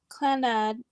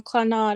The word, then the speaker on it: Clannad: it yes yes yes so basically clan clannad and some people like me who pronounce the wrong claw not or whatever um it basically is